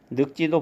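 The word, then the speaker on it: 늙지: 요 리을 기역 같은 경우 받침이 겹받침 리을 기역일 때 뒤에 소리가 고라고 나는 경우만 리을로 이렇게 리을로 발음을 하고 고가 아닌 나머지 경우는 다 기역으로 발음을 한다 이렇게 알려드렸던 것입니다.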